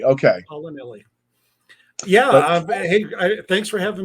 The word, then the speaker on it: Paolinelli: It's Paolinelli. You were so close. I thought you had it there for a sec. I was close. Paolinelli. Okay. Paolinelli.